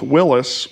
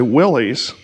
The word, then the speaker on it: Willys: i've read john north willis would have pronounced his name willis even though it's spelled w-i-l-l-y-s so people will say willie's he apparently pronounced it